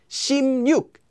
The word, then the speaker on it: 십육: 십육 is just pronounced as 십육.